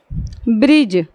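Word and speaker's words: bridge: तरह से आता है ब्रिज बी आर आई डी जी ई जो बिगिनर्स हैं उनको कॉफी प्रॉब्लम होती है डी जी अगर एक पास तो कभी व सोचता है कि हम ड का उच्चारण करें कि ज का उच्चारण करें उसे समझ ही में नहीं आता तो यही चीज है य हम डी को क्या करेंगे साइड कर देंगे और पढ़ देंगे इसको क्या ब्रिज ये हमारा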